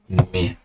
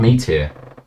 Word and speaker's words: Mahir: stream so diligently than Mahir? Here. Oh yeah, this is an important service announcement for the Netrunner community. Is that it's not Meteor, it's Mahir.